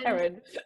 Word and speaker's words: Kerin: Kerin, sorry. Have I pronounced that right, Amanda? Yes, yeah, you have, Kerin.